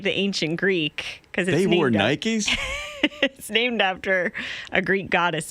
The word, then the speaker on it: Nike: the my crime that I have been saying the name of the shoe company wrong you guys all say Nike and I say night now when you say